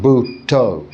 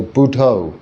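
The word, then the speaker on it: Buddho: T people uh use the Expression buo buo so buo which is uh a way of saying Buddha um but in two syllables Bud to as a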